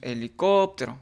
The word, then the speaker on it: helicóptero: De la misma manera decimos en la palabra helicóptero, decimos helicóptero, aplicamos la técnica, la metodología de la entonación y de esta manera podemos encontrar que la sílaba tónica es COP, ¿sí?